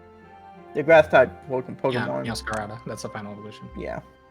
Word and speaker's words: Meowscarada: Yeah, Meowscarada.